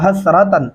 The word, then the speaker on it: حسرة: یا حسرتن، یا حسرہ نہیں پڑھتے، ایک تو یا کو لمبا نہیں کرتے، پھر حسرہ موٹا ہا پڑھ دیتے ہیں.